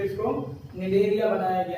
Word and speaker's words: Cnidaria: Phylum जिसका नाम है निडेरिया। ठीक है, ध्यान देना यहाँ पर सी जो है वो साइलेंट है ना, सिनिडेरिया कभी मत कहना, यहाँ पर सी साइलेंट है, दिस इज निडेरिया।